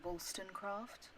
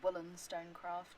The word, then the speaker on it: Wollstonecraft: It is Mary Wollstonecraft, not Mary Wollstonecraft, not like a woolen jumper.